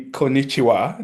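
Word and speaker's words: こんにちは: in Japanese, which I found out to be konnichiwa. Did Did I say that right? Perfect. Actually, that's perfect pronunciation and I I love that you you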